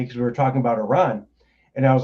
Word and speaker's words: Iran: It's not Italy, you're not Italian, it's Iran.